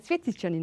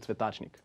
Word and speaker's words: Cvjetićanin: - In fact, I rarely hear the correct pronunciation. You rarely hear the correct pronunciation? - Yes... But I said it correctly, right? - I've heard so many different things. As in...? - I was called Cvetačnik (cauliflower man).